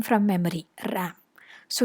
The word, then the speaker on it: RAM: access m from memory ram so you don't pronounce it as REM you pronounce it as RAM similarly we have UNESCO